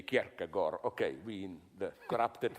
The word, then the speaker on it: Kierkegaard: I read in a biography of, how to pronounce it correctly, Kierkegaard. Okay, we in the corrupted West say Kierkegaard.